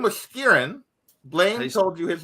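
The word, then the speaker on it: Skerrin: yeah we don't even know his name was kieran blaine he told you his name his name was kieran how do you spell that s-k-e-r-r-i-n okay and he works for anders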